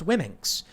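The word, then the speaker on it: Womxn: the name was and they said whimxen w-o-m-x-n why mixin that's i don't know and they say it's pronounced women's and they got attacked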